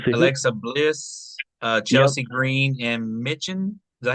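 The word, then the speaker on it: Michin: It was the Alexa Alexa Bliss, Chelsea Green, and Mitchen. Is that how you say her name? Mean. Mean. Yeah, that first I is basically like two E's.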